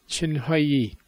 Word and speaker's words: Chinhoyi: by their big ones Senoia has changed its name now it's chin high II just I've had another example of where apparently the colonial authorities didn't get the pronunciation quite right and so they didn't spell it correctly wonder if modern farm